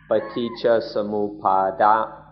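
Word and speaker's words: paṭiccasamuppāda: then we call it paticca samuppada, although in Thai it's pronounced paticca samuppad.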